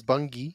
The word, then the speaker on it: Bunge: You know, we're super excited here to learn about the company you work for, which we're going to tell everyone it's Bunge.